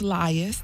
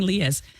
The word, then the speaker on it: Lias: It's Lias. Lias. I I did not want to say it wrong. I was saying Leas.